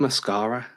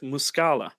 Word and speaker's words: Muscala: pickup I think Mike muscala was a good pickup considering the money Mark mascara um mascala mascara are you saying mascara like like a lady puts on mascara no it's Mike muscala I don't know how